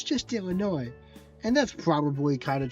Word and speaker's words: Illinois: Soon as I switch to it because it's the funny version of the pronunciation, but it is Illinois.